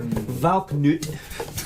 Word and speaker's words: Valknut: As far as all the whiskeys in their core lineup, this particular Valknut. This is the way it says it pronounced on Google.